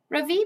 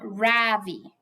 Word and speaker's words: Ravi: My name is not Ravi, he says. It's pronounced Ravi. I'm not going to bother